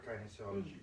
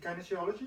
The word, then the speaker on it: kinesiology: Now, just for those of us that don't actually know what kinesiology is. Actually, is it kinesiology or kinesiology? Because I hear them both. Both. That's either way. Pronounce it either way.